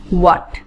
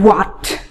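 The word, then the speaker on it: what: ওকে, প্রথমে WH কোয়েশ্চেনের যে পার্টটা আছে সেটা হচ্ছে গিয়ে হোয়াট, ইটস নট হোয়াট। Okay, এইচটা silent থাকবে, এইচটা সাইলেন্ট থাকবে, এইচের কোনো রকম কোনো উচ্চারণ হবে না, এইচটা টোটালি অমিট হয়ে যাবে।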